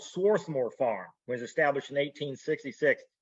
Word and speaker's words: Swarthmore: And then you get to Swarthmore Road, because that's how the Northerners pronounced Swarthmore. So here's Swarthmore.